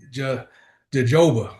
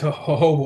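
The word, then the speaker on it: jojoba: But hoba growing up in where I grew up in the hood, we call it jajoba, right?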